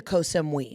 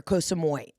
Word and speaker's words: Koh Samui: I've been to Koh Samui or Koh Samui. People pronounce it a couple different ways.